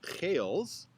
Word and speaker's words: Geils: my middle name and my last name Geils pronounced in its native Dutch as kales is thus a Dutch